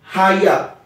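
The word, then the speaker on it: היה: ça vient d'un mot hébreu qui ce qui s'écrit Aya donc ha y a h Aya il y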